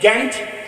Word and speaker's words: Ghent: a peace treaty it was the Treaty of Ghent but that's not the way you pronounce is ta t NT I must do